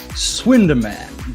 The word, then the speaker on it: Swinderman: me and the director of the movie swinderman did i say that he pronounced that well yes yes you said it